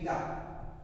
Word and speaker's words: eta: अब इसको बोल देते हैं ईटा, ETA, ईटा। ये मैंने लिख दिया है, ऐसे लिखते नहीं है, बट बोलने जो उसका प्रोनाउंसिएशन है वो आपको समझाने के लिए मैंने दिखा दिया कि इसको ईटा बोलते हैं।